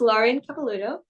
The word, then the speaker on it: Lauren Capelluto: I have a great interview today and she's Lauren kapalo so that's how I pronounce it right yes that's right great job